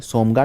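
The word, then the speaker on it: Tsomgo: ठीक है, TSOMGA, सोमगा। टी का उच्चारण नहीं करते हैं तो सोमगा बोलते हैं, तो ये उनको आपस में जोड़ेगा।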